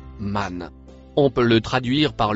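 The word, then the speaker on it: من: Le mot bleu se prononce man.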